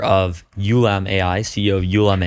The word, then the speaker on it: Ulam: Przemek Chojecki, who is the founder of Ulam AI, CEO of Ulam AI. Is that how you pronounce it? Yeah, Ulam.